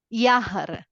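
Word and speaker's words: Jahr: okay this is fr yahar I told you yahar this is yah J A HR is yahar yahar means year f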